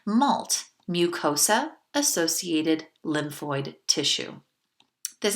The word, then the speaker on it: MALT: well you have this tissue called mult like a multiple that candy spelled the same malt mucosa associated lymphoid tissue